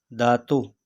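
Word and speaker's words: Datuk: ठीक है उसके बाद दादा दातो ठीक है के यहां पर भी साइलेंट है ठीक है दातो दादी नेने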